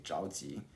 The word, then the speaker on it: 着急: Uh-oh, that pronunciation is not correct. I think you guys can all hear that. It's supposed to be 着急.